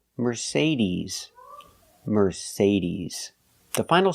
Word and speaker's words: Mercedes: Remember Mercedes. We do not say Mercedes. The last vowel is not I like milk. And this is it's the long e like green beans. We say Mercedes.